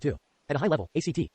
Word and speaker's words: ACT: At a high level, ACT, pronounced ACT, not ACT, looks at how our thoughts influence our behavior, and offers tools for debugging when our minds get stuck.